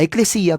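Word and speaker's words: ἐκκλησία: que prácticamente es una transliteración de la pronunciación eclesía, eclesia, eclesia, eclesia, eclesia, iglesia, iglesia. ¿Se dan cuenta?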